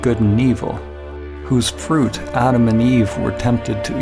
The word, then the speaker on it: Adam: and evil, whose fruit Adam and Eve were tempted to eat. Wow, yes, perfect. Okay, let's stop here to check out how to pronounce the male name. Adam or Adam. Adam.